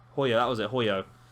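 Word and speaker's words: Hojo: yeah that was it hoyo the j is pronounced as a y so it's kyrie hoyo uh but i don't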